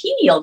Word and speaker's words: pineal: the hypothalamus, and the pineal gland. So yeah. Oh, I said it wrong. Pineal. Pineal. I think they say it.